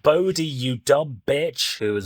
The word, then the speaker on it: Bode: It's pronounced Bodie, you dumb bitch, who